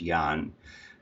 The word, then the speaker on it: Jan: a tricky one so my name is Yan and it's spelled just like yours Jen it's about je and it's pronounced Yan my last name is